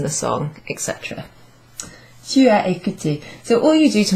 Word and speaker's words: écouté: And it's, strangely enough, it's pronounced in exactly the same way as the infinitive verb with an ER at the end. E accent is pronounced E. E. Tu as écouté.